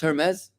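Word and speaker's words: Hermès: shaped like a handbag Ames unfortunately is pronounced Hermes heres on Palm Beach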